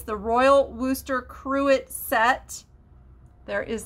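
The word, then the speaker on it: Worcester: number 16 is a pair of royal wooster uh cruets and wooster is spelled like w-o-r-c-e-s-t-e-r nothing like it sounds so if you spell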